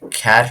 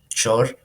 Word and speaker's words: char: Now, some people pronounce this as char, or they pronounce it as chor, but I mean, it's okay. You can always pronounce it as char or whatever you want, unless you misinterpret its meaning.